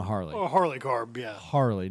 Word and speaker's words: Harley: Harley, not Harley. Harley. Harley Carb. They put the wrong emphasis on the wrong syllable.